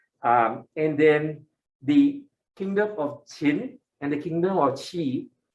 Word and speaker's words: Qin: In 247, somebody by the name of Yin Zheng ascends the throne of the Qin kingdom, Qin, all right, not Qing, all right, it's Qin, okay, all right, just